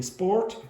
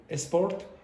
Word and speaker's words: sport: So instead of saying sport, you might say esport, or instead of saying Spain, you will say Spain, Spain.